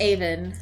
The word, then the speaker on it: Avon: Stratford upon Aan is pronounced Aan.